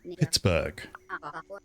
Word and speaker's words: Pittsburgh: cuz then you also get like Pittsburgh where like the town in America the city in America where it's kept the bur on the end but then they pronounce it as bur so it could be